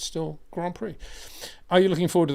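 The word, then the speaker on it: Grands Prix: plural plural s but still pronounced Grand Prix actually isn't it because it's French so whether it's in Grand PRI or grand PRI it's still Grand Prix are you looking forward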